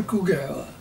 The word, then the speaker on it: Kouguell: what's in it well my name is kugel it's spelled the French way people ask me who